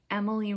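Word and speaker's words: Emmaleigh: it to be um her name is emily rose but it's spell e-m-m-a-l-e-i-g-h um my middle name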